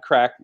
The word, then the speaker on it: craic: Crack is spelled CRAIC, not the bad crack, because crack is whack.